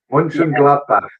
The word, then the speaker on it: Mönchengladbach: But the pronunciation of this one, I'm sure you're probably better at me pronouncing it, but is it Borussia? Mönchengladbach.